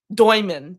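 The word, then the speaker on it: Demin: Yegor Doyman. Doyman is actually how you say his name.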